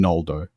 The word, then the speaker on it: Noldo: So originally, it was Ngoldo, not Noldo. So it was like NG, but like the NG in sing, where it's sort of that. Exactly, without the G. Without the hard G.